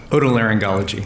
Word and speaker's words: otolaryngology: Otolaryngology.